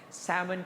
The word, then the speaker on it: salmon: to salmon okay that's salmon salmon silent l salmon pink all right lactose